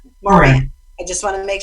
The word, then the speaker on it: Moran: Moran.